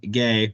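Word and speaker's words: Ghea: up on your own it's g-h-e-a Ryan gay I believe that's how you pronounce it from Milton Georgia visited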